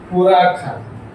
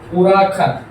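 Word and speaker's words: huracán: tonto u u u huracan huracan. it's എപ്പോഴും എച്ച് എവിടെ പോയി സംശയം. ഹുറാഖാൻ എച്ച് എപ്പോഴും സൈലന്റ് ആണ്. ഓക്കെ. സ്പാനിഷിൽ എച്ച് അപ്പോൾ സൈലന്റ് ആണ്.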